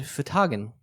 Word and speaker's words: Fhtagn: And Fhtagn. Which is spelled out?